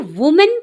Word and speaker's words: woman: तो WOMAN को वुमेन पढ़ा जाता है। इसका मतलब है कि एक महिला, यह एक वचन है, सिंगुलर है। WOMAN को वुमन, WUH वु, MUHN मन, वुमन उच्चारित किया जाता है।